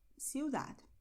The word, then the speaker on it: ciudad: So in Mexico, Argentina, Costa Rica, and so on, people are going to say Zaragoza, El Pozo, Pozuelo, Barcelona, Ciudad.